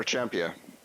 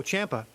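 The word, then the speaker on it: Ciampa: that guy's fine no no no no champia oh Champa yeah yeah but yeah Champa that's it also a good wrestler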